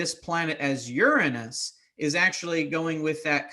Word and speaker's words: Uranus: But Uranus is also another one, and technically Uranus is still correct. So as funny as it is, it has many different pronunciations. So but to kind of eliminate a lot of the chuckles, the more appropriate or more proper one that we use now is Uranus.